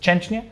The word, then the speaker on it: Szczęsny: Yeah, or like I think the right way is Szczęsny. Szczęsny, because but in German, of course, we would say Czesi or Częsny. In England, they call him Szczęsny.